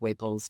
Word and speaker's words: Waples: It's Dr. Waples, which is Dr-, spelled like flower, Waples, which is W-A-P as in Paul, L-E-S. And that's really the easiest place to get a hold of me.